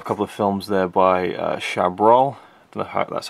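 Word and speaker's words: Chabrol: we have a couple of films there by shab that's how you pronounce his name and then we get to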